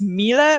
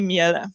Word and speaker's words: Miele: or not yet that the pronunciation of the name it's Milla right and it's really a german-based company so that's why even though in Poland we say miele yeah so we still